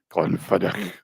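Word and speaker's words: Glenfiddich: Oh, and he used to get a gift of a bottle of Glen Fedich. Glen Fedick. Scottish pronunciations.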